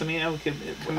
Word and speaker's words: Cimino: Cimino? Michael Cimino. Cimino, thank you. Right? I think so. It's not Cimino, it's Cimino.